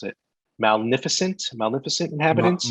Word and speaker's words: Maleficent: which is the uh mallet i can never pronounce it magnificent maleficent inhabitants maleficent yes that right same as the movie right